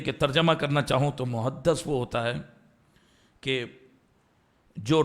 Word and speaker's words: محدث: میری امت کا محدث, میم ہا حلوے والی, دال تشدید والی, اس کے اوپر زبر, اور سا, محدث صحیح تلفظ ہے.